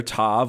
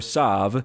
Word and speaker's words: Tav: been the case that this letter Tav or Sav is pronounced as a t- sound by those who are Sardi and as an S Sound by those who are ashkanazi and for other groups